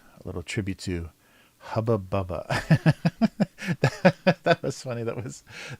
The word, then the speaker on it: Hubba Bubba: the two things were Hubba Bubba because they don't have the uh sound short u sound they have the only um you is always ooh so there's like uber the gum was hooba buba and the other thing